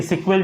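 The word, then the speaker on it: SQL: फिर है structure query language यानी कि सीक्वल जिसको बोलते हैं हम लोग। एसक्यूएल और इसको उच्चारण हम लोग सीक्वल सीक्वल करते हैं।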